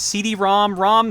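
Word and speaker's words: CD-ROM²: good start fun fact it is actually officially pronounced CD-ROM ROM system as stupid as that as soon as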